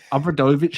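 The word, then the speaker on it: Obradović: No, not Aaron Brockovich, but Obradovic, as I pronounce it, is unquestionably one of the greatest coaches in European League history.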